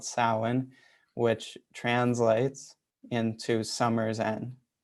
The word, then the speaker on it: Samhain: so halloween used to be called samhain and it's spelled s-a-m-h-a-i-n and it's pronounced samhain okay and that is